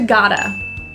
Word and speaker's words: gotta: Got to turns to gotta. The T is also a flat T, sounds like a D, gotta.